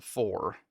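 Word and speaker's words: Pfhor: So, uh, the the events of Marathon include uh the ship being invaded by an alien race called the four, but it's spelled like for It's it's weird.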